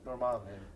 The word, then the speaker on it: Dormammu: And that is how you say it, Dormammu.